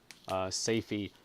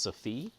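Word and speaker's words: Safie: nightingale of the woods say fee spelt sa fi e it might be pronounced Sophie who mm excuse me there I had to sneeze very sudden s AF I say fee or Sophie I kind of like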